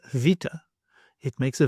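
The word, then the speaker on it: βήτα: This letter you may know as beta, but actually it is vita.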